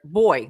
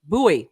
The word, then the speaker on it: buoy: it's buoy buoy um so it's Elementary School they taught they told me to pronounce that boy yeah and then as an adult I only hear anyone ever say buoy so I guess we'll go with buoy and I'm going with buoy and P us yeah